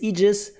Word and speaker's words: aegis: a latin lone word it's almost always pronounced e there are some exceptions